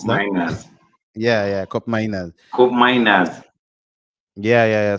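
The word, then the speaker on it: Koopmeiners: uh cop how how do how do they pronounce that miners yeah yeah cop miners cop miners yeah yeah yeah so is he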